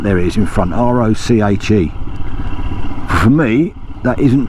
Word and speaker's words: Roche: So we're now coming into Roche, or Roche as I say, because it's spelt R-O-C-H-E, and to me that isn't roach. Roach of the fish is R-O, look there it is in front, R-O-C-H-E.